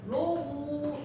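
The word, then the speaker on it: ρ: 이렇게 이렇게 적으면 얘를 읽기를 뭐라고 하냐면 로우 이렇게 발음을 해.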